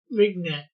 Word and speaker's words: vignette: Yeah, it's a French word, so you don't pronounce the G hard.